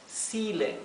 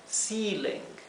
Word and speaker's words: ceiling: es el cielo raso ceiling se pronuncia con una I larga ceiling el cielo raso es